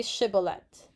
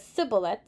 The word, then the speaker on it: shibboleth: the amplified bible commentary the hebrew consonant with a sh sound which the aphromites evidently